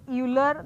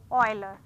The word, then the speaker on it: Euler: help you Euler from it's not Euler the correct pronunciation is Euler for to write the